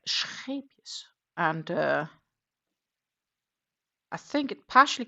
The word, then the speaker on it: Scheepjes: Scheepjes is a Dutch brand, so I should be able to sort of pronounce it. It has an R in it. It's not scheepjes, but scheepjes, because it's an R, and it's a little bit like saying Scheveningen, which is a beach